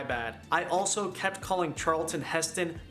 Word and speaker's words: Charlton Heston: whole thing my bad i also kept calling charlton heston charles heston again stupid screw for updates the movies are